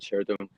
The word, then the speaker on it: Shirtum: I would like to explain you a bit more about Shirtum and its origins.